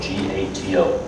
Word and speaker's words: gato: This is how you pronounce that word, G-A-T-O, pronounced gato.